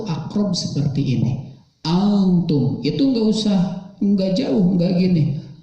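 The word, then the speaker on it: أنتم: La a'budu ma ta'budun wala antum. Nah, antum kita hapus dulu ya yang atas. Antum di sini hukum tajwidnya adalah ikhfa. Ikhfa itu artinya samar, dibacanya samar, tidak jelas.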